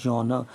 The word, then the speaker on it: genre: this genre now this is very important word genre genre means this style this is genre g-e-n-r-e but the pronunciation is jaw no this genre is described